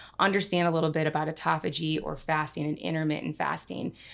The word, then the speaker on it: autophagy: Um but this process when we go into fasting it's pronounced autophagy. The dyslexic in me says um autophasia.